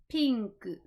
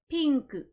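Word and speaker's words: ピンク: the English word but we must use the Japanese pronunciation when we are speaking Japanese if I'm speaking English I'm gonna say pink but if I'm speaking Japanese I need to say pinku pink the reason I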